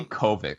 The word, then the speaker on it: Kovic: Very, very enjoyable, and I thought Dave Crock would be a... Korvic. Why do I keep saying Crock? I see Kovic.